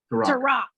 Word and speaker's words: Tarik: Is it Tarik? Tarik? Pronounced? Tarak. Yeah.